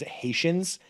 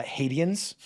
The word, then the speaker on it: Haitians: She pronounces Haitians uh, Hades. Uh, fun fact, while filming that scene, she genuinely thought that's how you pronounce the word because she hadn't heard be heard to be spoken before. Wow. Uh, she didn't connect that Haitian.